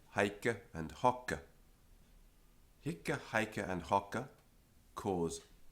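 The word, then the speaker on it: hocce: But even without the E on the end, it's still pronounced hicke and hocke. The consonant is long. How do you have a long consonant? You go like this. Kke, kke, hicke, hocke. It's like hick, hock.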